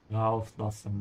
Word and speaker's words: Rauslassen: Rauslassen. Rauslassen. This is a supplemental verb, so emphasize the prefix.